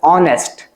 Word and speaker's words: honest: But when you look at its sound, we pronounce it as honest. Honest. So it begins with the sound of O because H is silent in this case.